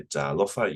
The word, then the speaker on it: talofa: So I always say Talofa. You say Talofa. Make sure that you drag the R. It's the macron, and second to last syllable is emphasized. So it's not Talofa, it's Talofa.